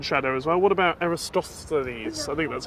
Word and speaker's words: Eratosthenes: And because we had other craters in shadow as well, what about Eratosthenes? I think that's how you, is that how you say it? Eratosthenes, I think is so, that it?